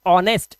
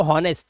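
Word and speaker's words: honest: इसी तरह से इसको पढ़ते हैं ऑनेस्ट। इसको ह नहीं पढ़ते। जैसे हॉर्स तो हॉनेस्ट नहीं इसको पढ़ते हैं ऑनेस्ट।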